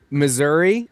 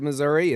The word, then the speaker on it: Missouri: Missouri, that is the state I live in. But if you talk to the people in the southern part of Missouri, it's Missouri.